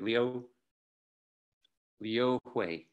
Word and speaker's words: Liu Hui: But 260 BC, we get this person, okay, Liu Hui is how you say his name.